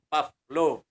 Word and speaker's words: Pavlov: Pavlov. P-A-V as in victory, L-O-V as in victory. Pavlov. Yan ang pronunciation ng kanyang pangalan.